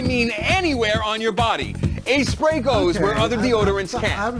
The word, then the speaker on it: A-Spray: With a name like Doc Bottoms and A-Spray, pronounced A-Spray but easily misread as Aspray, you'd think this product would be ripe for a parody.